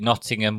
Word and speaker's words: Nottingham: to not in them the one thing about nottingham is we don't pronounce the tease so you can you